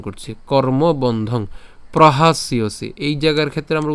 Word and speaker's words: প্রহাস্যসি: সি উচ্চারণ করছি, তাহলে প্রহাস ইয়সি। এটা এভাবে উচ্চারণ করতে পারেন ভেঙে ভেঙে, অথবা একসাথে উচ্চারণ করতে পারেন।